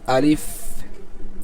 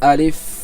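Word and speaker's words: ألف: আলিফ আলিফ কোন টান হবে না দেরি হবে না জিরো সেকেন্ড আলিফ আলিফ এবং এটা কোথা থেকে উচ্চারণ হয় নিচে দেওয়া আছে মুখের খালি জায়গা হইতে উচ্চারিত হবে্যা কোথা থেকে উচ্চারিত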